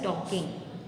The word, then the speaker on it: talking: Here L is silent, so we are pronouncing it as talking.